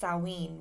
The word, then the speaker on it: Samhain: word around it's actually spelt samhain but it's pronounced salween which is where today's word halloween has become and salween is the pagan new year it's um it's